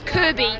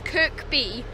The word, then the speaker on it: Kirkby: it as well don't can actually pronounce this Kirby which is the little pink marshmallow thing from Nintendo but no it's Kirkby listen is Kirkby Mery side just to